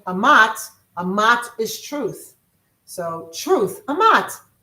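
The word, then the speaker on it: אמת: H amat is the truth. Amat. It's spelled e m t. But the e is spel is spelled like an ah.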